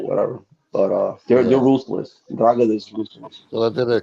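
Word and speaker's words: 'Ndrangheta: Ndragada, Ndragada. Androgeda. Androgeda. No, just say the N, Ndragada. Put Ndragada. Mm, Yeah, like Androgeda. N, like you want to say N, Ndragada. Androgeda.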